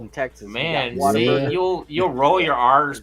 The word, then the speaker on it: Whataburger: Those of you know, Oh, in Texas, we got Man, Whataburger. see, you'll roll your R's, but you'll slander Whataburger. Here, Waterburger, man.